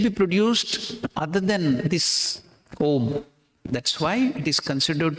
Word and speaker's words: Om: Om has 3 syllables. What is that? A, that is the beginning of sound. U, it rolls, so it's the middle portion, it covers everything. Ma is the end. A, U, Ma.